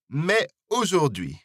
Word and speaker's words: mais aujourd'hui: Mais aujourd'hui, or mais aujourd'hui. This liaison is optional, so it's up to you whether you pronounce the S at the end of mais or not.